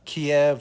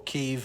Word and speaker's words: Kyiv: over the Ukrainian people, remember Kiev or Kyiv, however you want to pronounce it, one is Ukrainian, one is Russian, is the birthplace of Russia.